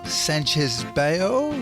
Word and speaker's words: Sanchez-Bayo: associate of the University of Sydney Dr Francisco Sanchez Bale is that the correct pronunciation that's perfect yeah you wrote this amazing